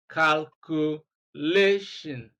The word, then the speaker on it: calculation: syllable from the end of the word, and that is LA. So let's look for the option with LA. B is incorrect. C is correct. That is the one that has LA, calculation. So D is incorrect. And so the correct option and the accurate answer is C, calculation.